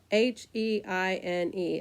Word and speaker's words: Heine: squirrel brain is called Heine Brothers I kid you not it's spelled h-e-i-n-e it looks like Hein but they pronounce it Heine Brothers so um I'm not